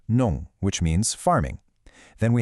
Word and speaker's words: 농: We start with nong, pronounced nong, which means farming.